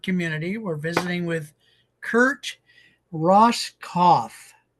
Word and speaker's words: Roskopf: We're visiting with Kurt Ross Cauth. So, the P is silent.